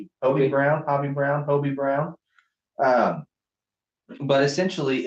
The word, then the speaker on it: Hobie Brown: only ever read it I always call him hobby Brown but it's only one beat Hobi e OB OB OB a ground Bobby Brown Hobie Brown but essentially it's an